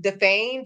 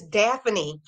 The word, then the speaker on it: Daphne: I kept calling him Defane, Defane, and I went back to watch my video. I'm like, her name is Daphne. Why couldn't I pronounce Daphne?